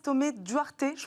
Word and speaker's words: Thomé-Duarte: Clarisse Thomé-Duarte, je prononce bien Thomé-Duarte à la française, experte en droit des affaires chez SVP Information Décisionnelle, va nous aider à y voir plus clair.